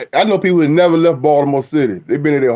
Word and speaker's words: Baltimore: B oh yeah that's another thing how you pronounce how you say Baltimore it's Baltimore Baltimore now some white people say Balmer every how you say Baltimore how y'all say